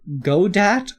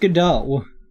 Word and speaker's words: Godot: I pronounce it Godat or Godot? It's pronounced Godot.